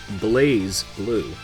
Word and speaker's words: BlazBlue: game videos that is blaze blue doesn't make any sense despite stylistically missing the E you're required to toss aside your understanding of the English language and simply accept the pronunciation is blaze blue it's the strongest ringing